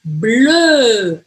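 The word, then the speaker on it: bleu: bem diferente o som em inglês a gente fala blue em francês blue então não tem som de u nenhum ai como eu faço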